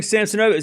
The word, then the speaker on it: Samsonova: Yeah, see, I'm even butchering Samsonova.